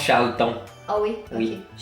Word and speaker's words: Charlton: prononce Charlton.